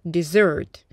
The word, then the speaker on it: dessert: Обратите внимание, слово десерт произносится dessert, потому что у нас еще есть слово пустыня – desert.